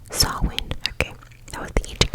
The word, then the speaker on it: Samhain: Okay, it was the Gaelic word, and it's pronounced Samhain. Samhain.